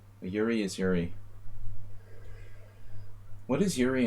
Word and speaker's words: Jiří: How do you say that? Yuri? It's like Yuri.